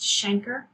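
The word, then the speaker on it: chancre: ulcer called a shanker another trick you want to spell that's pronounced shanker at the place of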